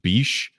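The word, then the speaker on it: Bishé: Also, Kerry, I think it's pronounced Bishe, was in the AMC show *Halt and Catch Fire*, which is pretty good.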